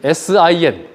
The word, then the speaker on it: Sin: 광야도 신 광야라 나오는데 영어는 틀려요 여기는 신 sin 와일더니스 오브 신이고 여기는 와일드니스 오브 진 그 영어 알파벳 중 제일 발음하기 어려운 거 마지막 알파벳 발음 좀 해